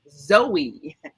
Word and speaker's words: Zoey: with shop with Joey with Zoey pronounced Zoe Zoe with Zoe and you